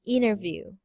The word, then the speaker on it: interview: All of maybe this is one of those T silent in international, center, internet, and interview. Interview. Yes. Inner. You Inner. yes, most of them have NT, NT, and NT. They will pronounce the N only, not the T.